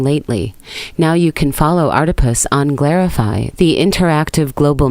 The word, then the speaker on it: Artipoeus: Artipoeus, pronounced like octopus because art is everywhere.